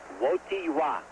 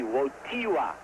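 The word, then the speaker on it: Wojtyła: name yet V it's WWA the accent is on the T WWA although you spell it w j t i l a WWA my polish friends have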